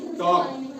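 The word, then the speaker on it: talk: silent रहेगा ठीक है जैसे टी ए एल के टॉक टी ए एल के टॉक इसको टलक नहीं पढ़ते हैं क्यों एक बल है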